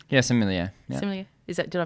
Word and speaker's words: sommelier: earlier in the show, who's do we say sommelier? Yeah, sommelier. Yeah. Sommelier. Did I pronounce it correctly?